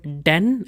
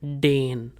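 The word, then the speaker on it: denn: You just have to know the word for because is den and its pronunciation it's called den and not dane.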